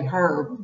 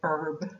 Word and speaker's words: herb: i meant to say herb but i usually say herb the h is generally not pronounced by most americans but either is correct so why do we